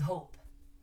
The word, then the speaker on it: hope: foot you hop okay but if you add an e it becomes do you remember the rule it becomes hope remember okay now let's